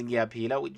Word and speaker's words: ngiyaphila: Ngiyaphila, like I always say, just like how you peel an apple, not an apple, but an orange. How you peel an orange or a banana, whatever.